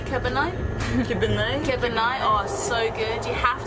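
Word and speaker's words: kibinai: Kebanai.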